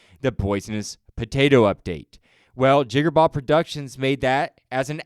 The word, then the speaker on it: Jigarbov: So the quote-unquote correct pronunciation is Jigarbov with the long R, like a pirate. Or you could just, a lot of people just call me Jigarbov.